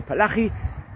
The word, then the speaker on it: Palacci: rabbi named Rabbi Avraham Palacci, and it could be pronounced various different ways, or Palachi.